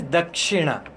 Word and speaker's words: Dakshina: In standard English, Dakshina. Dakshin.